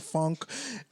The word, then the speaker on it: phonk: So excuse me for calling it funk for now, but like I just love how you're like funk, which is spelled PHONK, Funk.